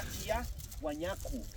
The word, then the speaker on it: Tiwanaku: Esta palabra originalmente se pronunciaba Kia Huañacu, como me escuchan a mí, Kia Huañacu. Durante la época colonial este término fue castellanizado, solamente se escribe así, de esta manera con W, Tiwanaku.